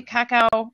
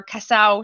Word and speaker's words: cacao: Leah, Bailey's amaretto half and Kahlua is a regular orgasm, and vodka, amaretto, triple sec, white cream de cacao or casao, depending on how you pronounce it, and light cream is the screaming orgasm.